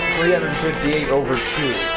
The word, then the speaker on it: 358/2: Oh, everyone's saying it's pronounced 358 over 2. It is? Yeah. Kingdom Hearts 358 over 2.